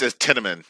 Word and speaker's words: Tiananmen: It's Tiananmen.